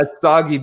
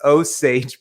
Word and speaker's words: Osage: I was like, "Dude, it's not Osage Beach. It's Osage Beach."